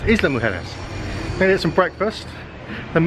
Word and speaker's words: Isla Mujeres: it island harness but in spanish they pronounce the s so it's isla mujeres they need some breakfast